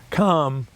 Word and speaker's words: Kamala: harris by the way the pronunciation com this is true is the same as in communist so it's unless you